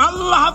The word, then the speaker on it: আল্লাহ: আল্লাহ আল্লাহ পাকের উচ্চারণটা হচ্ছে আল্লাহ পাকের নামের উচ্চারণ হচ্ছে আল্লাহ মুখটা একটু গোল হয়ে যাবে বলেন আল্লাহ আল্লাহ সুবহানাল্লাহ পৃথিবীতে বিভিন্ন জাতি তার